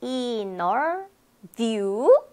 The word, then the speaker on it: interview: 네, inner view.